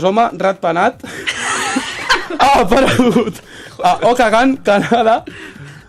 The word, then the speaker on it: Okanagan: Okanagan és el nom de la ciutat. Vale. Això està ben dit. Jo crec que és Okanagan. No, és que ho pronuncia amb accent canadiense.